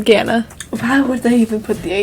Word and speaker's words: Ghana: Just no H, huh? Just Ghana. Yeah, I've heard it pronounced as, I've only ever heard it pronounced as Ghana.